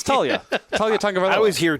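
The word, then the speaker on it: Taulia: I don't know how to say his first name. Talia? Oh, just Talia. Talia? Yeah, Talia. See, exactly. It's Talia.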